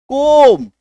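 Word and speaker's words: comb: अगर किसी शब्द के लास्ट में एम के बाद बी आ जाए तो बी का उच्चारण वहां पे नहीं होना है। तो सी ओ एम बी कोम।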